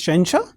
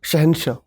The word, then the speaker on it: Shahansha: thanks yes sir shensha it is to be pronounced as shensha shensha shahinsha fan chance are you comfortable in english